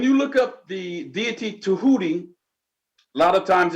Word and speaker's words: Tehuti: of fact when you look up the deity to hootie a lot of times it's spelled t-e-j-e-h-u-t-i sometimes it's spell it's spelled d-j-e-h-u-t-i but it's it's pronounced to hootie um the greek changed it from tehuti and